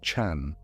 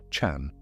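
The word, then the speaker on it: 禪: The Japanese word zen is simply the Japanese way of pronouncing a Chinese word. And that Chinese word is chan. Chan.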